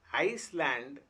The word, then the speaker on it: Iceland: Whereas in Iceland, C sounds like S.